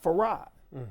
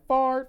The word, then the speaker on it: Fard: And I think the reason why is because because my family called me Farad, which is the proper pronunciation for it. However, when I was in school, they always be like, Fard, Fard, Fard.